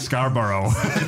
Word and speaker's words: Scarborough: was one of the questions how do you pronounce Scarborough Scarborough you nipple but um but yeah no